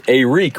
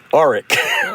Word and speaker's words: Arik: It's Arik, right? Not Arik or Eric.